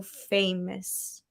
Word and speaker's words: famous: like pronounce that O-U-S the way that they would pronounce in Portuguese.